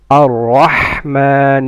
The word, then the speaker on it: الرحمن: را of رحمن and رحيم are full mouth. And ha comes from mid of the throat. الرحمن الرحيم.